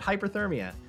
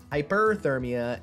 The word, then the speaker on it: hyperthermia: If you say hyperthermia when talking about getting cold, you're saying it wrong. And I say that because until our cancer journey, I've been saying it wrong my entire life. I've always said hyperthermia. That is hypothermia, hypo. That is getting too cold. Hyperthermia is getting too hot.